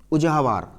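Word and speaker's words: உழவர்: को हम लोग तमिल में क्या बोलते हैं, उजाहवार। क्या बोलते हैं, उजाहवार, पढ़ा था हम लोगों ने, उजाहवार, ठीक है।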